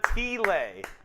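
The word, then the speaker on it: ti lei: This is a T-lay. It's spelled T-I. It's pronounced like T.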